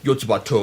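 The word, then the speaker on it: よつばと!: It's one of the Yotsuba, or Yotsubato if you're into the Japanese pronunciation of the series, because the American version has Yotsuba ampersand, because basically it's Yotsuba and such and such.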